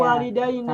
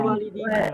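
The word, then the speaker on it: الوالدين: Makanya bacanya Ya, walidaina, sama bukan ayah. walidina. Walidaina. Tapi ada juga yang baca walidina.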